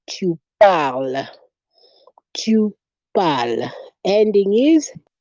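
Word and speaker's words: parle: say il fal el pal remember we say the e at the end of a word is usually silent in french and s again is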